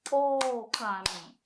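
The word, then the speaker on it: 狼: Whilst for the word wolf, you want to say okami. So you want to say o longer.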